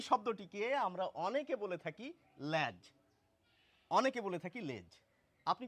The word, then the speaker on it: লেজ: আমি নিজেই এই শব্দটিকে লেজ বলি, আমার দলে অনেকেই আছেন। তো যেটি এখন আধুনিক উচ্চারণ অভিধানে লেখা হচ্ছে যে এই শব্দটির উচ্চারণ এখন ল্যাজ এবং লেজ দুটিই স্বীকৃত।